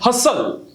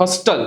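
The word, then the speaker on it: hustle: seat belt फसन then हसल नॉट हस्टल what is इट हसल match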